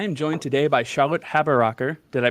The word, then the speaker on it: Haberaecker: live uh i am joined today by charlotte haber rocker did i pronounce that right charlotte you did wonderful and